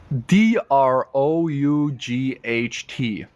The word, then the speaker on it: drought: u g h t looks like thought isn't thought how do I pronounce this d r o u g HT say it out loud I'll give you an option one or two is it number one draw or number two dra drought number one drought or